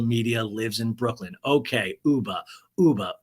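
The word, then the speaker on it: Ubah: lives in Brooklyn okay Uber Uber Uber rhymes with tuba uba tuba uba tuba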